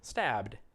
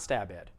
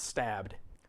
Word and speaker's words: stabbed: tense stab past tense stabbed stabbed that's all it is it looks like stab ed it's not stab ed it's stabbed so everybody say present